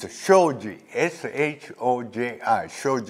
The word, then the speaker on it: Shoji: cannot say my name you know it's a Shoji Sh oh yeah I showed you that I'm